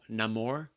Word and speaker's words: Namor: Although I think I told y'all like off air, like his name he pronounces it Namor, which is fucking.